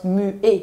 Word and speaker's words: muet: Maar E-T in het Frans is een E. Dus dat wordt als mué uitgesproken.